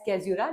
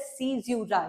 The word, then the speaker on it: caesura: अब बहुत सारे बच्चे इसको रॉन्ग प्रोनाउंस करते होंगे एज कैज़्यूरा, लेकिन no, this is pronounced as सीज़्यूरा।